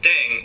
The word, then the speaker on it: 땡: The pronunciation of deng is similar to thang, which is the slang of thing in English.